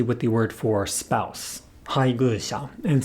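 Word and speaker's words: 配偶者: I was able to fix my pronunciation for haigusha by saying my pace and then humming the word a few times beforehand, as in my pace, haigusha, haigusha, my pace, haigusha, haigusha. In summary, timing issues are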